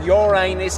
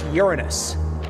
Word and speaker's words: Uranus: moons it's me Uranus and no it's not pronounced Uranus it's pronounced Uranus many planet can't do anything about that we